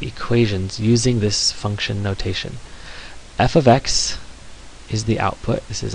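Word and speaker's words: f(x): is pronounced F ofx you say F then you say the the word of then you say the word X so f of x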